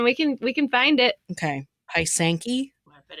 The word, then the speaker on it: pysanky: Pysanky? It is number 6 in the Google Suggest list. How to pronounce? Pronunciation. Pysanky. You weren't that far off. You were actually really close.